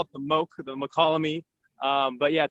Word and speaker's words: Mokelumne: And so wow, I did know that, but I didn't know how to pronounce it. Yeah, we lovingly call it the Mokelumne.